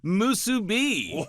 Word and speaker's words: musubi: of seaweed, rice, and that salty, salty pork, musubi. Oh, you nailed the pronunciation, brother.